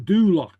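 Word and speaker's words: Dùbhlachd: And on Mia's show this month, on Dulak. Okay. Yes, everybody say that. On Dulak. Alhamdulillah. Uh-huh. And this is kind of a complicated ending right there. It's a CH with a K.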